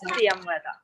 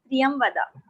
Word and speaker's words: Priyamvada: Yeah, by the way, my name is Priyamvada. It's pronounced as Priyamvada. Priyamvada.